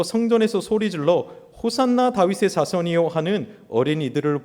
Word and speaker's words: 호산나: 호산나가이 원래 호시안나라는 발음입니다. 구약의 호세아와 같은 발음이에요.